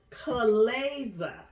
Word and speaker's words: chalaza: of appears sperm light but it's actually called Co Laza come legs but it's spelled CH am a za Olathe and so